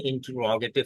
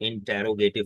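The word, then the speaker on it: interrogative: Questions, इनको कहते हैं इंटरोगेटिव sentence. इंटरोगेटिव sentence, this is नॉट इंटेरोगेटिव sentence. Correction कीजिए प्रोनाउंसिएशन की। इंटरोगेटिव सेंटेंस, इसका स्ट्रेस कहां पर है, रॉ के ऊपर।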